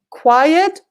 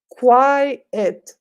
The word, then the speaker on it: quiet: fans are Grande so there's a difference in pronunciation quiet quiet two syllables quiet quite with an